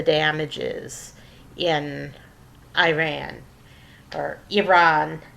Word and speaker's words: Iran: That's the proper way to pronounce it as Iran. I'll never get used to it because when I was a kid, people didn't care how the names of countries were pronounced. They just pronounced it any old way they felt like. And everybody said Iran. So, I learned to say Iran, but it's really Iran. That's how Iranians pronounce it is Iran.